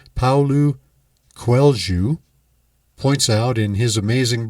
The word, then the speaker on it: Paulo Coelho: hearts treasure and as the most excellent author paolo quelju and i stumble on that a little bit it is spelled paulo coelho it looks like but i looked up the pronunciation paulu quelju points out in his amazing book the alchemist